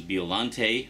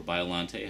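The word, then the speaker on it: Biollante: I should mention Godzilla vs biolante or biolante however you prefer to pronounce it is also getting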